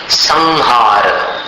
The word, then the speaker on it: संहार: हर जगह अनुस्वार का उच्चारण म जैसा नहीं होता। संहार अब संहार का कैसा उच्चारण है? वो जो अनुस्वार है उसको ह में मिलाना पड़ता है और जहां से प्रारंभ होगा अनुस्वार वहां पर समाप्त होगा।